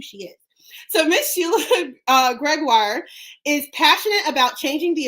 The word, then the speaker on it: Gregoire: Gregoire. Ha! I finally got it right, guys. I've been pronouncing it wrong this whole time.